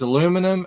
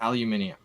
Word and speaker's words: aluminium: with this split but we actually write it different and pronounce it different so yeah no one's right or wrong it's both it's aluminum and aluminium aluminium yeah just call